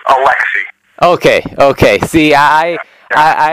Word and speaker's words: Alecxih: It's It's pronounced Alexi.